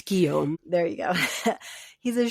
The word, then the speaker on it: Guillaume: I don't know how to pronounce his name. Guillaume. G-U-I-L. Yeah. It's Guillaume.